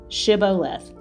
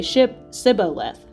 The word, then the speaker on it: Shibboleth: If he said no, then they would say to him, Then say, Shibboleth. And he would say, Sibboleth, for he could not pronounce it right.